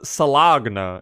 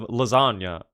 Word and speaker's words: lasagna: My stupid ass always says salagna instead of lasagna.